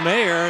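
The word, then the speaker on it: Meagher: Ann's name is spelled M E A G H E R, but it's pronounced Mayor.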